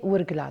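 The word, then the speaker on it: Ouargla: euh Wlen ou Warklen, en fait selon la prononciation, c'est wurgla.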